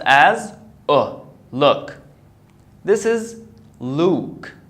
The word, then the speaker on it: Luke: oh look this is Luke the you here is pronounced as Oh so I say Luke so look oh very